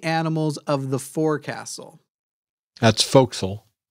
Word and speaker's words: forecastle: of The Forecastle that's folkl that's how you pronounce that yeah folkl it was